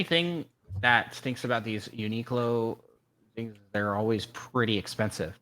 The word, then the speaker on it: Uniqlo: Uniqlo. Uniqlo. Oh, that makes a lot of sense now. Like unique clothes. Like unique clothing. I get it now. Yeah, the only thing that stinks about these Uniqlo things, they're always pretty expensive.